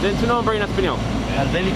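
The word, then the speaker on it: Albenis: Albéniz. How do you spell it in Spanish? A-L-B-N-I-S, Albéniz.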